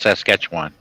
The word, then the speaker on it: Saskatchewan: Yeah, a lot of Americans can't pronounce it. It's called Saskatchewan.